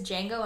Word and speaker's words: Django: The D is silent, and that's all I have to say.